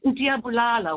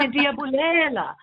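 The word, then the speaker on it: Ndiyabulela: I said, Ndiabulala wena. Instead of saying Ndiabulela, Bulela wena, which means I kill you.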